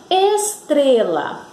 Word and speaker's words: estrela: A palavra estrela. Vamos pronunciar a palavra estrela. Estrela. Vejam que deu uma subida na hora que nós pronunciamos a sílaba tre. Estrela. Então, tre, vocês pintam, tá bom?